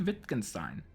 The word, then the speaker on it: Wittgenstein: Ludwig Wittgenstein. I'm assuming it's German, which is why I'm pronouncing him with a V.